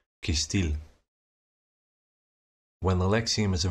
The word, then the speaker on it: cêstêl: When a lexeme is a noun, an adjective, or an adverb, the stress or emphasis falls on the very last non-schwa vowel, kistil.